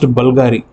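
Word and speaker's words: BVLGARI: will look like it is bvl G it's pronounced Bulgari if you look into that bottle it will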